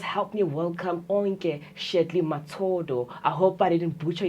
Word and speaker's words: Mtsodo: Let me correct you, my surname. How you pronounce it is Mtsodo. Mtsodo.